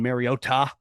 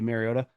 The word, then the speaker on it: Mariota: Uh, turns out Collinssworth was right the way that he was pronouncing Mariota and uh, Mariota got his back saying that's the actual way to uh, pronounce it, though I just say Mariota.